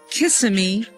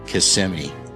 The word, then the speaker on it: Kissimmee: Honey, do you think it's called Kissm or Casemi? I wish it was Kiss. However, the real pronunciation is CMI.